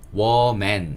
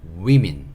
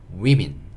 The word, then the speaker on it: women: 어떻게 발음되냐면, women, 이렇게 발음이 돼요. WO지만, we라고 발음을 해요. 왜 그런지 저도 잘 모르겠는데 그렇게 발음을 하니까 여기 정말 주의해서 복수형 익혀주셔야 돼요. woman 이게 단수고요. women 이게 복수다.